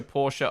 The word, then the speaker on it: Porsche: Pardon us trying to start pronouncing the E in Porsche. I know. I know. I I want to be a future Porsche owner one day, and